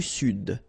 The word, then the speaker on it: Sud: L'Amérique centrale, l'Amérique du Sud, here you should pronounce the D, sud, sud, okay?